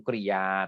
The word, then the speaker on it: กริยา: ใน เรื่อง ของ คำ กริยา นะ ครับ พรุ่ง นี้ ก็ คือ ความ หมาย นะ ครับ เอา คำ กริยา นะ ฮะ อ่าน ว่า คำ กริยา นะ ครับ เรา จะ